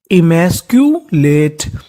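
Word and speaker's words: emasculate: करना है यहाँ पे CU को हम लोग पढ़ते हैं क्यू, यानी जहां कहीं पर आपको शुरुआत में या बीच में CU लिखा मिले तो उसका उच्चारण हमें क्यू करना है। क्या करना है क्यू, ध्यान रखिएगा। LATE late. लेट, इस मीनिंग के आखिरी में ई है तो ई का उच्चारण नहीं करना हमें, तो मीनिंग बन गई हमारी इमैस्क्यूलेट।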